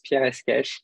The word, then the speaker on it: Pierre Escaich: You did pronounce my name, family name, almost very well. It's Pierre Escaich.